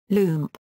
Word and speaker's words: Lump: Lump, the pet of Pablo Picasso, who was thought to have inspired some of his artwork. (Pronounced: loomp; German for "Rascal") Picasso & Lump: A